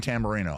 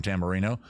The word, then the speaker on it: Tamarino: He was an And his name is Tambourino. I'll say his name again. Tamarino.